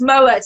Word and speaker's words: Mouat: funny because you're going it's not it's it's mowers it's not not moab it's not this is